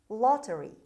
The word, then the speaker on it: lottery: mortafa word number three lottery lottery lottery as you see the stress is at the beginning is a scheme for